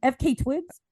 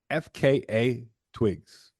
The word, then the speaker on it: FKA twigs: is this bitch's name FK Twigs that's why once he you I looked it up it's actually pronounced FKA twigs you got a spell you got to say all the letters which is there there's